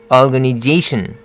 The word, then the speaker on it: organization: organization. 마찬가지로 tion으로 끝나잖아요. 그러니까 they 할 때 스트레스가 들어가는 거죠. organization.